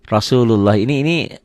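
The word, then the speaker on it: رسول الله: Dibacanya jadi tebal Rasulullahi. Rahmatullahi bisa dikatakan. Ini bacaannya bukan seperti ini ya. Bukan bacaan ini kalau kita membaca apa adanya berarti salah. Betul, kita katakan kalau tulisan ini ditulisnya kayak gini. Tapi dibacanya ada O ya, ada O tebal dan seakan-akan ada wawunya, ada W-nya. Rahmatullahi.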